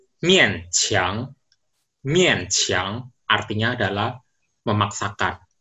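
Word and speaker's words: 勉强: Oke, di bahasa Mandarin itu bacanya mian qiang.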